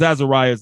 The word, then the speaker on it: Azarias: And let me pronounce their names correctly again. Ananias, Azarias, and Mishael.